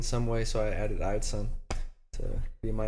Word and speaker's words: Eideson: So first off, your name Eideson. Yep. I'm pronouncing it right?